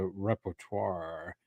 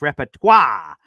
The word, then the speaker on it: repertoire: And by the way, I believe that is a French term in nature, so I believe it's repertoire. Repertoire, I believe, is how that's pronounced.